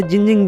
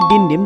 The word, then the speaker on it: Dindim: इनका नाम बताया तो उन्हें लगा कि ये जिंजिंग बोल रहे हैं, लेकिन एक्चुअल में डिंडिम सही उच्चारण है, जो कि एक पुर्तगाली शब्द है जिसका मीनिंग आइस पॉप होता है।